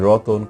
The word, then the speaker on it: রতন: এখানে রতন, কাজল, কোমল, অধ্যাপক প্রত্যেকটা 3 বা তার অধিক বর্ণে গঠিত। এখানে খেয়াল করে রতন শব্দের তয়ের সাথে একটি অ আছে, এই অটা ও এর মতো উচ্চারণ হয়েছে।